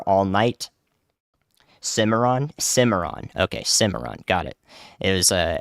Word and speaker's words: Cimarron: going to cover all night Cimarron Cimarron okay Cimarron got it it was a more of a